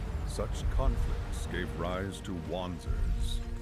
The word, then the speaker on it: Wanzer: Such conflicts gave rise to Wanzers. It's pronounced Vonzers.